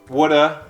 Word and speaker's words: woulda: connected speech okay so the pattern is whenever we have the of which is present in the word of or the ve contraction with have on many words like could have it's reduced to uh and you see this